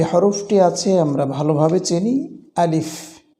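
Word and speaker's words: ألف: আছে আমরা ভালোভাবে চিনি আলিফ আমরা এই উচ্চারণটিতে ছোট্ট একটি ভুল কেউ কেউ করে থাকি সেটা হচ্ছে আমরা আলিফ বলি সরে লইহিস প এটি সম্পূর্ণ ভুল উচ্চারণটা হবে আলিফ স্বরে লহিস ফ আলিফ তাছাড়া এখানে আর কোন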